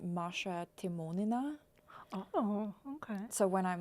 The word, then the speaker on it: Maria Timonina: And my name in Russian is actually pronounced Maria Timonina.